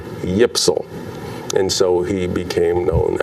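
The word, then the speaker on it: YPSL: y p s l if you try to pronounce those initials y p s l you get yipsal and so he became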